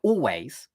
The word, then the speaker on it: always: In fact, if you take a word with more than one syllable, if you take a word like always, you can just take away the L completely. Just don't even bother lifting your tongue. Just make it or, like the word or.